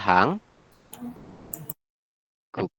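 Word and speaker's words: 한국: ini hanggu hanggu I tulisannya hanguk tapi kita Bacanya adalah hang guk seperti ini apa yang berubah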